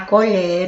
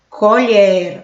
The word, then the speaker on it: colher: Olha a pronúncia minha. A colher está sobre o prato. Colher, aberto. Colher, fechado.